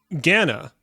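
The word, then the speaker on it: Ghana: protect my figure all right here we go Gana and I'm pronouncing it that way because that's how it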